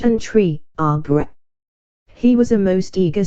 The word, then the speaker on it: arbre: in the same way he was taught to pronounce ape, singe and tree, arbre.